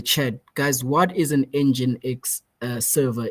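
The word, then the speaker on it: nginx: the in the chat guys what is an engine x uh server it's spelled n g i n x I want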